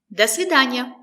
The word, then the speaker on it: До свидания: The stress is on дания. До свидания. Do, we don't say do, we say da. Because it's not stressed, that's why we pronounce the letter O as a.